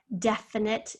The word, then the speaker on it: definite: Definite, deaf. Here's our first syllable. It's a close. This is a short E sound, deaf. Net, knit. And then, of course, we have this silent E right here that's not doing much of a job, but it is there.